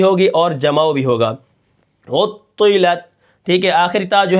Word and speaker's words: عطلت: اچھا، اس کے بعد جو ہمارا کلمہ ہے وہ ہے عطلت. اس کے ہجے کس طرح ہوں گے؟